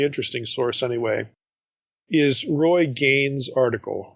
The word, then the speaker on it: Gane: And for this, I think a good source, a really interesting source anyway, is Roy Gain's article. Gain is spelled Gane, and it's entitled The Bread of the Presence and Creator in Residence.